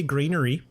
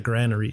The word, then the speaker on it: granary: you want to say it I I say Greenery um even though I know it's wrong because